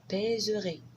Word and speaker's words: pèserai: Peser, je pèserai. Modeler, je modèlerai. Donc, vous voyez, normalement, la prononciation, c'est pèserai, modèlerai, parce qu'après un accent grave, ça casse là, le E qui est là.